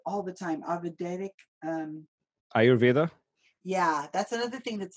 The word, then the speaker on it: Ayurveda: you say it all the time avada um ayurveda yeah that's another thing that's a mild thing